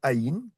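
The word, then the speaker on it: עין: Pareil, on a notre aïn. Ça fait et, si, et, c'est, Faut pas, non, c'est une lettre silencieuse.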